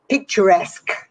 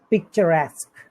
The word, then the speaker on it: picturesque: the next cozy yes comes from french we have many french words in the english language uh it's pronounced like the french word any ideas no picturesque picturesque it's very common we